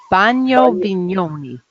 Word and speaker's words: Bagno Vignoni: Then we'll visit and photograph Bagno Vignoni.